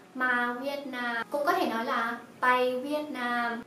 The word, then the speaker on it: ไป: Từ này ma đọc là ma, còn từ này pai đọc là bay, ma bay.